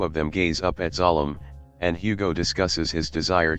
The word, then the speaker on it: Zalem: Interestingly, Zalem, pronounced Zalem in the movie, is in the original